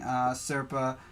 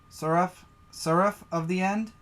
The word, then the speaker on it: Seraph of the End: it looks really interesting, I'll probably be continuing Serpa. I hope I'm saying it right. Seraph of the End?